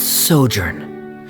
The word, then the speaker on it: sojourn: everything clear uh director's osimos how do you pronounce this word let me see Ah that's sojourn it means to stay for a while this